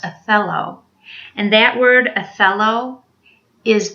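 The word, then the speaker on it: θέλω: It's spelled T-H-E-L-O, pronounced athelo.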